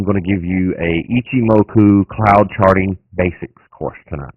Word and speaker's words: Ichimoku: So, it's ichimoku. Ichimoku. Ichimoku. Now, I'm not sneezing. That's just how you pronounce it.